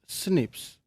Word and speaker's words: SNPs: Single nucleotide polymorphisms or SNPs commonly pronounced as snips.